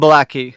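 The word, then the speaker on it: ブラッキー: How do you say it in Okay, Effie? it's Effie and Blackie.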